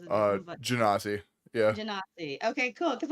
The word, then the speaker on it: Genasi: I say Ganassi. I don't know. Everybody says it different, but Genasi.